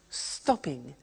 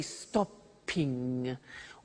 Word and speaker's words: stopping: and it becomes stop stopping now notice that in English pronunciation when there is a double consonant we don't hear it in the pronunciation so for example we don't say stoping or swiming okay not like other